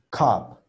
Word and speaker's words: cup: Y ya se pronuncia cup, cup, cup, up, up, cup, ¿ok?